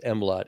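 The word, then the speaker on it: MLOTT: an acronym because that you can pronounce it as mlot ml o TT which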